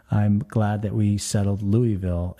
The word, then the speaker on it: Louisville: glad that we settled Louisville is the correct way to say it well I think more people say Louisville than Louisville but yeah a lot of people do say Louisville okay talk to you